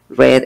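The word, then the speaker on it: read: su hoja de vida reed es leer en presente y en pasado pero se pronuncia ruiz en presente red en pasado coinciden o sea que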